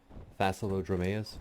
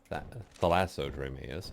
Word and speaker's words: Thalassodromeus: And gonna take Zephyr here out, which is the name from my Thassalodromeus. Did I say it right that time? Thalassodromeus.